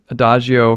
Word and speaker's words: Adagio: The next one is from your song Adagio for Pots and Pans, or did I pronounce that right?